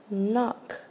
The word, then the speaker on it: knock: long o n o knock knock a a makes the short o sound notice at the end is the K at the beginning is silent knock who is knocking